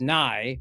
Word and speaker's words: Nye: And it rhymes because Nye rhymes with guy.